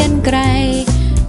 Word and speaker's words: กรรไกร: รอ ฮะ รอหัน ก็ รอ หัน อ่าน ว่า กรรไกร กาลา อ่าน ว่า กรรไกร ไป ห้าง สรรพสินค้า